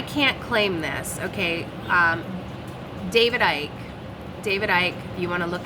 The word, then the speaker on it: Icke: David Icke, if you want to look him up, I think it's spelled I-C-K-E, guy from the UK, coined this phrase, and it is a point of attention.